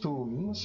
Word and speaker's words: Thum: Thum. Pronounced thums, flowers somewhat associated with death.